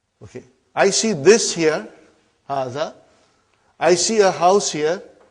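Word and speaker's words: هٰذَا: Haza see it is pronounced like ha. Huh? But this al if is not written. Huh? It is explained in the key also. So it is haza.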